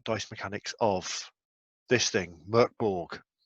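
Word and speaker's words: Mörk Borg: mechanics of this thing murkborg i know a lot of people say morkborg but the pronunciation god apparently says it's murkborg dark castle this is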